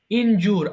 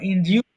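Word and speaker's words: injure: একটু বলো ইনহেল নিঃশ্বাস নেওয়া ইনহেল ইনহেলড ইনহেলড ইনজুর আহত করা ধরো অনেক সময় ফুটবল খেলতে গিয়ে বলে না আমি ইনজুর্ডর হয়েছি ফুটবল আমাকে ফুটবল খেলা আমাকে ইনজুর করেছে সো এটা কিন্তু সঠিক উচ্চারণে ইনজার হয়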